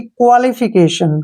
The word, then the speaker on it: qualification: फिकेशन, यानी कि क्वालिफिकेशन।